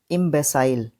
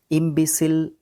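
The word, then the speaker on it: imbecile: इम इम्बेसाइल, इम्बेसाइल, ठीक है। इम्बिसिल, इम्बिसिल, वेरी गुड। इम्बिसिल, ये प्रोनाउंसिएशन इंपॉर्टेंट है।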